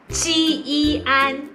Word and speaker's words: 坚: If you're learning PE now, this is how we pronounce 坚. jiān 坚持吃一持坚持 meaning to insist.